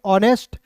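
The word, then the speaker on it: honest: एच ओ एन ई टी को पढ़ेंगे ऑनेस्ट।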